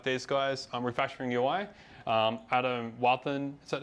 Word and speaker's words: Wathan: Adam Wathan, is that how you say his name?